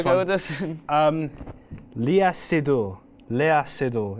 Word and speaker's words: Léa Seydoux: Léa Seydoux. It's a French name. Really? That's how you say it. Say that, yeah. Say because the X in French is silent.